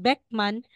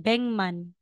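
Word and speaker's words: 백만: ng so aside or Instead na sasabihin mong beckman magiging Beng man Instead na sasabihin mong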